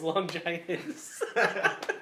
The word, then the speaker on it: Longinus: you pronounced it wrong. It's Longinus.